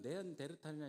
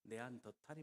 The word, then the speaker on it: 네안더: 물론 네안데이란 이름은 일본의 발음을 영향을 받아서 그렇습니다. 네안더이 맞습니다. 네안더라는 이름과 탈이라는 계곡이란 이름이 함께 합쳐져 있기 때문에 그렇습니다.